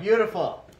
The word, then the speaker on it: beautiful: Remember the word is three syllables, right? Beautiful. Beautiful. Y. So you gotta, is it a drop the Y word though? Who thinks you dropped the Y? Who thinks you don't drop the Y? Okay guys, you dropped the Y. You dropped the Y. It's beautiful. Beautiful. T-I in this case sounds like T. Beautiful.